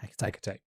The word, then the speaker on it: Hecate: Hecate? Yeah, Hecate. Should have made more of an effort to look up some of these pronunciations.